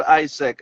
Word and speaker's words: AIESEC: How do you spell that ISEC?